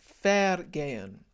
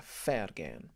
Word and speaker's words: vergehen: And it's vergehen. It's one of these confusing things about German spelling is that a V is pronounced as an F. So it's a vergehen. It's unvoiced. Vergehen.